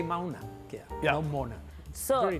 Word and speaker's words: Mauna Kea: It is Mauna Kea. Is it the way you pronounce it?